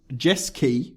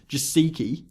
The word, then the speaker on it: Jeski: Christian Jeski, which is the correct pronunciation of what I thought was to be pronounced as Jasiki.